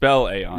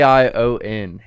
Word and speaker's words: AION: Aon do well it and how do you a on yeah a i o n a i o n some people pronounce it ion it's fine um but Aon